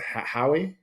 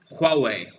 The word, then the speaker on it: Huawei: High, am I pronouncing Howie? How do you pronounce that? Their infrastructure, their digital infrastructure. It's Huawei. Huawei.